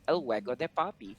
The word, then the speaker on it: El Juego de Poppy: So sabi ko, okay, let me just create the name to El Juego de Poppy. And a lot of people have been really are really having a hard time pronouncing it.